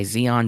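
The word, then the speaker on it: XEON: A Black Star by Zeon Zeon Zeon. Uh that is Zeon three times and it's all capitals and it's spelled x e o n.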